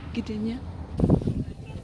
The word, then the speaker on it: Gdynia: But yeah, that's Gdynia. Did I pronounce that right? Yeah. Check me out, Gdynia.